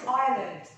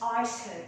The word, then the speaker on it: island: طيب we have the word island. now it we don't pronounce Iceland. so the S is silent. Shh. we don't pronounce the letter S.